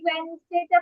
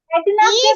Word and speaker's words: Wednesday: সারা, baby ওয়েনসডেটা পড়ে শোনাও। সারা, Thursday, Wednesday, Wednesday, ওয়েডনেসডে বলা যায় না। ওয়েডনেসডে নো বাচ্চা। Wednesday, ওয়েনসডে, Wednesday, ওয়েনসডে।